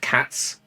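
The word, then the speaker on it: Katsu: Yes, it is pronounced cats. They don't pronounce the U in Japanese, they pronounce cats.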